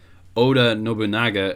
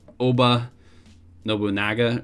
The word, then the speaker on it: Oda Nobunaga: mispronounce i pronounced oda nobunaga as obo oba nobunaga or something like that it's very like wrong i was pronouncing oh de oda as oba that's because i was